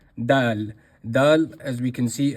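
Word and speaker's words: دال: letter is the letter dal. Dal as we can see in the card here is pronounced again at the top. So dal is pronounced very simply very easily not full mouth just empty dal.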